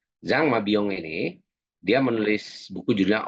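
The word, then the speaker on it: Jean Mabillon: Nah, kemudian ada eh Zang Mabyong ya, nulisnya kebanyakan ya. Jan Mabyong Mabyong bacanya Zang Mabyong ini dia menulis buku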